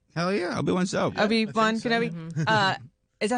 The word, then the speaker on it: Obi-Wan Kenobi: Obi-Wan Kenobi.